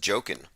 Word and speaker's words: Joaquin: tech inc says that joaquin is pronounced joking of the the phoenix